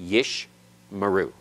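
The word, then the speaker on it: ישמרו: middle of the word the first schwa is silent the second is vocal always I say always advisedly remember because in Hebrew there's always exceptions to rules including that one but you would expect it to be yish meru yish meru okay the first one is silent the second one is vocal as we get started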